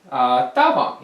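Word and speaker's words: 大黄: Daehwang is Da Huang in Chinese, Daehwang in Korean.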